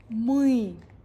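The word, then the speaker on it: мы: সিদ্দিন সিদ্দিন মুই মুই মুই এই যে উচ্চারণটা হচ্ছে মুই আমরা জানবো জানবো কি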